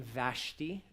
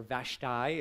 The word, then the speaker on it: Vashti: wife her name was queen vashti or vashtai if you pronounce it that way i don't know which one's right but i say vashti so they had a